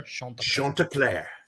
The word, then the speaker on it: Chanticleer: Chanticleer. It's Chanticleer.